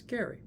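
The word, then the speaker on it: Carey: So when you hear a guy sing on this fine record, that is Gary. Spelled with a C. In case I'm not pronouncing it exactly, C-A-R-E-Y.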